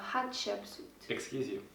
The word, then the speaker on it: Hatshepsut: was the temple of hatshepsut our next stop was the temple of hatshepsut not sure if you said that right yeah okay Hatshepsut I probably slaughtered the pronunciation but it's hot hot chips that was really pretty